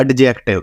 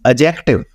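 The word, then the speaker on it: adjective: एडजेक्टिव यह एडजेक्टिव नहीं है। This is एडजेक्टिव। D silent है इसमें एडजेक्टिव एडजेसेंट अजर्न एडजस्ट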